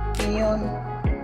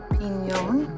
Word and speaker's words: piñón: How do you say it in Spanish? Piñón. Piñón.